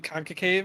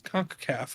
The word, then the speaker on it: CONCACAF: said it so confidently with conca cave i was like yeah that's it and then danny's just like actually it's conk caff and i was like